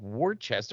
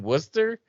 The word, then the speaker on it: Worcester: you've ever heard of worcester is that anywhere near you i'm like worchester i'm like you mean worcester like and i say worcester you guys say worcester you know so i i still